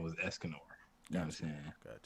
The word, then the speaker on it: Escanor: Yeah, Escanor, man.